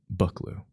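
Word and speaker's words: Buccleuch: How do you pronounce this? BL. Really? BL? Wait, what? Buckloo.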